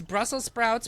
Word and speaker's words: Brussels sprouts: round two next it's brussels sprouts which is Brussel singular not plural I've been saying it wrong for the past 46 years versus green casserole I'll